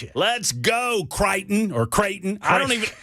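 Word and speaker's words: Creighton: Let's go Katon or Kraton. I don't even I don't even know how you pronounce it, but I'm a fan. It's Kraton because Tennessee beat them in the tournament two years ago.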